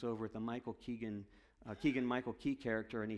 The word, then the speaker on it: Keegan-Michael Key: little bit flat suddenly Michael a king I keep saying his name wrong but keegan-michael key jumps out into the